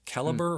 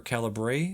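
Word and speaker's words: Calibre: it's a movie called caliber or calibra it's spelled c a l i uh b r so it's spelled in that uh the uh English way of saying caliber um it's about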